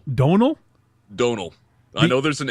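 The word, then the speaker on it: Domhnall: name I think it's domal Don it's Donal Donal Donal I know there an m in there don't pronounce it the m and the H are silent yeah it's an Irish thing Don Mr redheaded from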